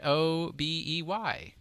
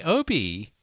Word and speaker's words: obey: And the word O-B-E-Y. Obey? Obey? See? But I used to say... All you have to do is spell it out, and I'm just like... I used to say Obi. Because why wouldn't you?